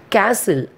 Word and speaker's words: castle: Castle, C-A-S-T-L-E spelling, but we are pronouncing as a castle. So T is silent here.